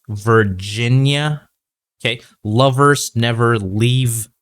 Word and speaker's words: Virginia: What you need to improve on is your vowel sound at the end of this name or in this word, Virginia. Okay, not Virginia. Okay, don't end it too much. Make the sound a little bit longer. Okay, Virginia.